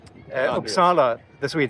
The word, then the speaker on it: Uppsala: Uh did I Did I pronounce the uh pronounce it for me? Uh Uppsala, that's what we say.